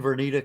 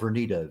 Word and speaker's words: Vernita: Well, okay, again, Queen Vernita, Queen, just the way it's spelled, Vernita, VERNITA.